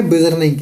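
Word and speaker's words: Beijerinck: तो आपको बोलना है बेजर्निंग। इनकी स्पेलिंग देख लो जरा, BEIJERNCK, ठीक है।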